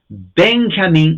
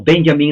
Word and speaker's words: Benjamin: poner bi en su su nombre es Benjamin o Benjamin la J es y en inglés Benjamin ah brick warfield es